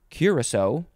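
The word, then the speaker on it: curassow: a noun next is curacao so it's very it's pronounced similar to um the liqueur but this is spelled very differently it is c-u-r-a-s-s-o-w curacao yeah noun from 1685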